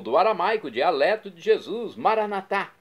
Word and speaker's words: Maranatá: E agora eu clamo do aramaico, dialeto de Jesus, Maranatá, como dizemos nós católicos, com a tônica na última sílaba ou maranata com a tônica na penúltima sílaba, como dizem nossos irmãos separados, os evangélicos ou protestantes.